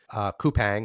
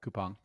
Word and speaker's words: Coupang: Portfolio is Ally Financial, Coupang or Coupon, I've heard it pronounced both ways. Yep, Coupang.